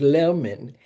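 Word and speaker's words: Lerman: You spell it Z A F R A. And my last name is Lurman.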